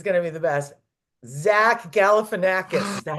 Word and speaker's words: Galifianakis: Zach Galifianakis.